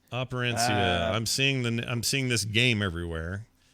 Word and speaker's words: Operencia: It's operencia.